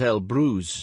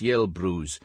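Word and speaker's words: Elbrus: like G in Rouge an e at the beginning of a Russian word is usually pronounced ye thus yelin not Elin but Mount El Bru not Mount yel Bru because in Russian the e in this case is a different letter I have used the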